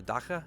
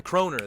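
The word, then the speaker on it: kroner: sweet is that the how do they pronounce that the Daka or something like that um what is what is that nice nice the croner that's what it is okay I don't know why I thought it was the I was trying to pronounce the the three letters together apparently croner yes um yeah so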